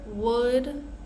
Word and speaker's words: would: most common words here would should could so these three words the L is silent we're not going to